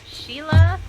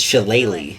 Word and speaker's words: Shillelagh: Sheila? I believe is how it's pronounced.